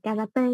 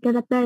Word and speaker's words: karate: Cái chữ này mình không phải đọc là karate. Karate là tiếng Việt Nam mình đọc thôi.